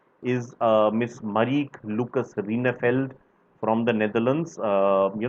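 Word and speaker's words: Rijneveld: uh miss mariek lucas rinefeld from the netherlands uh you know jay is pronounced as why in dutch v is pronounced as f that's right marik lucas rene felt from the netherlands for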